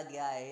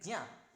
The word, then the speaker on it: ज्ञ: इसका असली प्रोनाउंसिएशन है ज्या। तो ये जा से मिलके बना है, ये जो जहाज वाला जा है और इया है,